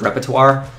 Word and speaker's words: repertoire: like content creators goes, no one can say the word repertoire. That's how you say it.